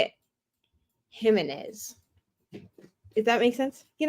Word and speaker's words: Jimenez: with an H okay hers is pronounced like the Spanish pronunciation of a j so but it's where they put the inflection because some people say it Jimenez and some people say it Jimenez do that make sense